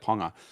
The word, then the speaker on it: Ponga: They brought the Junior Palgo or something Ponga. yeah. They say it like Ponga.